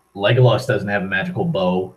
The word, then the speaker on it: Legolas: Wow, Legoless. That's a horrible mispronunciation. It's supposed to be an A instead of an E at the end. Legolas, not Legoless.